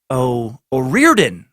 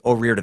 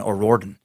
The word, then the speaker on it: O'Riordan: And then also number two, O'Riordan, as in Dolores Riordan is pronounced. Oh, okay, O'Riordan. I think I was doing O'Riordan.